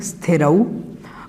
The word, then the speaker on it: स्थिरौ: ये नहीं पता, लेकिन ऐसा हम गलती से बोलते हैं पुरानी आदत की वजह से। इसको थोड़ा सा हमें ठीक करना होगा। तो बोलना है हमें स्थिरौ, और उसके बाद में